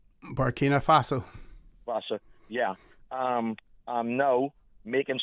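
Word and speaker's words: Burkina Faso: Some of the countries um um we have Tyrie um Abraham Tyrie um from from um Bino Fo. How do you say that? O Bina Faso.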